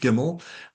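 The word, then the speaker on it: gymel: because um the the the so it's a gimmel. Okay. So that like our record company that's how it's pronounced gimmel.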